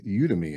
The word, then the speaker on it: Udemy: And Jan is an executive coach and keynote speaker with numerous online courses on LinkedIn, Skillsoft, and Udemy. Am I pronouncing that correctly?